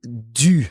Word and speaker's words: du: So that would become du. Now watch the pronunciation. Du. Du. And it's spelled D-U, du. So de and le merge into a new word.